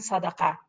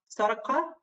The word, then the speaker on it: sadaqah: I'll be happy if everybody try to pronounce zakah and sadaqah. Heather, what about trying to say it? Can you go back? So first was sadaqah. Yes, excellent. Qaf, sadaqah. Sadaqah, excellent. Good.